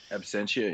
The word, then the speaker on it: Absentia: I did not get a chance to see it in theaters, but I thought Absenthia, is that how you pronounce the music, is pretty good. Absentia, yeah.